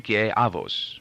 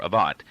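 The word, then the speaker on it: Avot: used had been from Pri Aos or Avat as my father had taught me to pronounce it with the safharnic rather than the Ashkanazic rendering of the Hebrew letter to.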